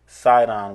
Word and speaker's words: Sidon: be unto Zidon, or which is pronounced Sidon with an S. It's the same thing. If you look in the New Testament, you'll see it pronounced Sidon.